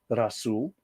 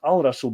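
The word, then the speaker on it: الرسول: And then, of course, the prophet al- Razul is pronounced as Rasool, not Al-Rasool because Rah, don't forget that's an Egyptian god, is a blending sun letter.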